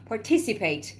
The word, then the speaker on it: participate: حالا چجوری من اینو تلفظ میکنی؟ participate رو ت میری بالا. participate.